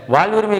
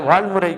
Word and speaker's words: வாழ்வுரிமை: ஒழுங்காக உன்னால உச்சரிக்க முடியல வாழ்வுரிமை கட்சிங்கிறதுக்கு பதிலாக வாழ்முறை கட்சி அப்படின்னு சொல்றீங்க வாழ்முறை கட்சின்னா இவங்க என்ன